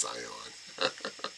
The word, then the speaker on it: Zeihan: I think that Peter Zeihan, which is interesting, he spells his name differently, but it's pronounced Zion.